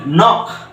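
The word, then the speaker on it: knock: রুলসটা মনে রাখবে যে শব্দের শুরুতে যদি কে এন থাকে তাহলে সেখানে এন উচ্চারণ হবে আর কে টা কি থাকবে সাইলেন্ট থাকবে এরকম কিন্তু আরো এক্সাম্পল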